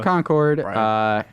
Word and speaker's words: Concord: my fourth time through the game Mike from Concord New Hampshire he's giving me a nice pronunciation gun I still messed it up it's